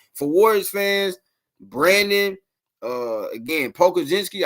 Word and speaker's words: Pokuševski: Again, Pokuševski, I think is how you say his last name.